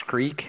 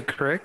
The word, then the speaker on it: creek: See, I thought, I mean, it took me years to be able to pronounce creek. Now you're saying I can say crick?